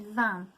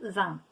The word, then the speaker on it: vin: 20 sounds like the word for wine, but it's spelt differently. So if you have 20, it's spelt like that, 20.